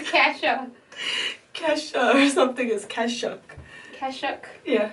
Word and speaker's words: Kashuk: Sonia Kashuk, not cashew. I say cashew. You sound like cashew. I almost laughed. Did I say cashew or cashew? Kasha or something is Kashuk.